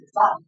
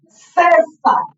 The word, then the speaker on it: César: dividimos c s César yo no soy Cesar soy César sílaba ctica C tipo